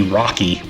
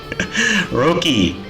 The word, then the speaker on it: Roky: used to pronounce RI Rocky I used to call him Rocky Ericson dumbest damn thing right Roki r o k y no C so let's talk about